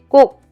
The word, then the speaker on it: 꼭: little foreign to you, think about the English word sky. In English, the k sound, the k sound is k sound, but when it's followed by a consonant, it's pronounced as sky. Sky, g. It is very similar to Korean, the double consonant g sound.